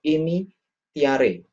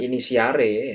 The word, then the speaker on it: initiare: Inire artinya masuk ke dalam, ya, atau initiare, ya. Initiare, bukan inisiare, ya, karena ini bahasa Latin, jadi membacanya itu secara harafiah saja.